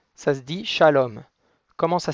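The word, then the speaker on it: שלום: comment ça s'écrit shalom shalom ça s'écrit avec un chine donc le chine c'est le trident c'est la fourchette qui a un point en haut à droite pour signifier que c'est bien un chine et non pas un signe la ponctuation en dessous c'est un camatte donc le ka mate c'est comme un thé qui se prononce a donc le chine avec le chromate ça va faire ch a ensuite on a un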